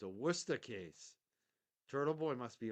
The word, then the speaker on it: Worcester: Ah, Warchester. You mean Worcester? What? It's funny to watch the out of town people pronounce our towns.